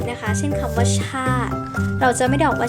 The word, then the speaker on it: ชาติ: ออก เสียง อีก นะ คะ เช่น คำ ว่า ชาติ เรา จะ ไม่ ออก มา ชาตรี นะ คะ